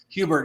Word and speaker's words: Hubert: Is it Hubert? Is that Hubbard? How do you say that? Hubert, yeah, committed to Iowa.